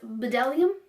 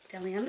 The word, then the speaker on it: Bdellium: love this bag because I was calling this bdellium like the BB e so I was saying bdellium but look it says the beat is silent so now I know I actually really enjoy DeLeon brushes DeLeon I have to catch myself now I got